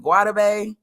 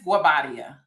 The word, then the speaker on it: Guobadia: Simon, now how do you pronounce Simon's last name? Is it Guad? It's Guabadia. Guabia.